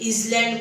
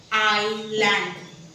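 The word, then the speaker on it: island: एस एल एन डी ह्याला कोण कोण माहिती आहे काय काय बोलतात इसलँड बोलतात आईस्लँड बोलतात पण ह्याच करेक्ट प्रोनाउन्सिएशन आहे आयलँड जसं डाऊट मध्ये बी चूक होता तसं आयलँड मध्ये एस चुप आहे एस चा आवाज येत नाही फक्त बोलतात आयलँड ठीक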